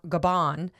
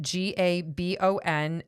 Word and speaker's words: Gabon: There's a country called Gaba Gaban and it's it's spelled G A B O N and it's in central Africa and we have a listener in Gaban Africa.